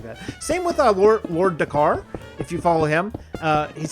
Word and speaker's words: Dakar: It's pronounced Dakar.